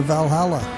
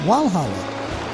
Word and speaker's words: Valhalla: what shortcuts across to valhalla now i'm using the viking pronunciation there but i noticed the locals call it walhalla i don't really know